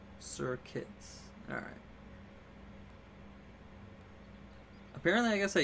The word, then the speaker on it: Serket: that run we got a shiny Serket? Serbit? What is it pronounced? Serket.